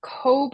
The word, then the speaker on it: Cobh: Cove is a little bit smaller.